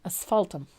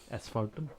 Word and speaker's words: asphaltum: this one I love this one is it asphaltum or Ash fault them asphaltum ESS no a-s-p-h but how is it pronounced asphaltum asphaltum yep or you can do it's a German